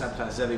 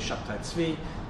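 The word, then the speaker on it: Shabbetai Tzvi: messianic figure Shabbatai Tzvi, sometimes pronounced Sabbatai Zevi, but it's really Shabbatai Tzvi, who was in 1660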